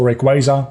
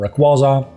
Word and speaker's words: Rayquaza: I tend to say Rayquaza, but I kind of go back and forth on Rayquaza, to be honest.